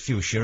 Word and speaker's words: fuchsia: uh it was uh developed by uh well by a mr fuchs all right okay which is nice yeah so really it shouldn't be pronounced fuchsia at all but we do but